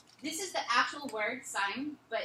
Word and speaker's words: sin: The sine of A, in your calculator you'll see it as S-I-N, and it's, yeah, but we pronounce it the same way, it's sine.